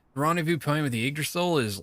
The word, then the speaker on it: Yggdrasil: It was Yggdrasil Union, and I asked somebody how to pronounce it, and they're like Yggdrasil, it's like egg almost.